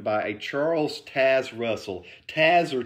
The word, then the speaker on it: Taze: I've always said Taz, like the Tasmanian devil. I don't know why, but it just seems like, you know, it could be Taze, because that's kind of like more how it's spelled.